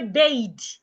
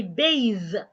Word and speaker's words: bathe: Now, those th words that articulate like a d, you don't want to say bade, you want to say bathe.